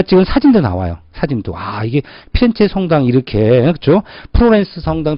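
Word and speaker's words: Firenze: 플로렌스를 영어식 발음이고 본토 발음 뭐죠? 피렌체잖아. 피렌체.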